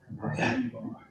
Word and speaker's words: Postenbaugh: Postenbaugh. Yeah, Okay, it's a mouthful, but it's pretty much pronounced the way it's written. Postenbaugh.